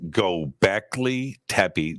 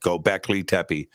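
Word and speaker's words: Göbekli Tepe: Twitter or posted up in and how to spell it um go Beckley tapi g-o-b-e k-l-i that's one first word second word Tepe t-e-p-e go back Lee tepy it's also spelled g-o-e but you can also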